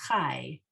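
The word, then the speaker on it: חַי: So the latter half of lachal, that is chai, like life, chai.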